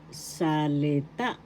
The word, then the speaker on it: salita: sa sa example halimbawa salita salita word in English first syllable sa second syllable excuse me please i'm ex third syllable salita third syllable has the accent salita so that's How pronounce